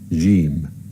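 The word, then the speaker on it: ج: Now the fifth letter is jim, jim. The sound of it is j, and it has an equivalent in English, like the word jump, for example.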